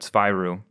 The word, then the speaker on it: Zwyroo: I don't know, accents are going to be a thing, but Zwyroo, like the German two and then two Roo, is in for Perks.